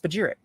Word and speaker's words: spagyric: Spagyrix, pronounced spagyric, is derived from the Greek words meaning to separate and reunite.